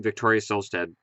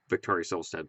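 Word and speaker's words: Victoria Silvstedt: it has everything including Victoria solad Playboy Playmate of the Year and when you've seen the movie you'll get why that's funny because that's how you say it Victoria silad Playboy playm made of the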